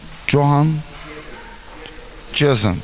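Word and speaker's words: Johann Dzierzon: How you pronounce him? Johan Jason.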